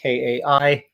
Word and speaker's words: Kai: It's spelled like the Karate Kid, like Kai, Cobra Kai, and the other kid is named Juniper.